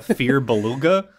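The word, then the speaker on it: Firbolg: is that funny a fear Beluga like a beluga whale feug fear buug mhm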